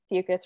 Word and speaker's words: Fucus: situation, to walk on Fucus, bladder wrack, you'll know that it's very, very, very slippery due to mucus. I always like to say Fucus rhymes with mucus.